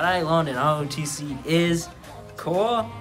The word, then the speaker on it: corps: What I learned in AFJROTC is core is not pronounced as corpse because you're not dead.